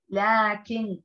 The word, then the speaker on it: لكن: طيب كلمة حذفت الألف من وسطها، أحسنتن، هذا، لكن، رائعات، هنا تنطق الألف ولكن دون أن تكتب.